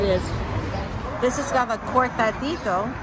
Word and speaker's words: cortadito: This has got the cortadito, right? Yeah, that's how you pronounce it.